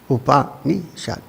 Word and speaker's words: Upanishad: whole operation we have you can divide it into three syllables actually one the first is OPA the second is me in the last is shut Upanishad okay now what does